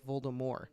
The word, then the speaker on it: Voldemort: pronounced that way it's it's a French name you don't pronounce the consonant at the end of the word it's Voldemort and she's like I